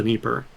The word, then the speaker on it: Dnieper: It's spelled like Dnieper, but I think the D is supposed to be silent, or something weird like that.